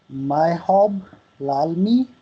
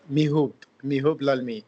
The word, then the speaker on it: Mihub Lalmi: We have Myhob Lalmi. Did I pronounce it correct? Yes, almost, sir. Almost. So how do you pronounce it? It's Mihub Lalmi.